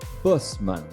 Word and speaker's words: Buschman: this is us from the netherlands is marco busman welcome to the show thank you so much